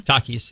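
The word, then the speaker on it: Takis: had it that's it's is it pronounced talky Shawn talkies yes correct okay and talkie is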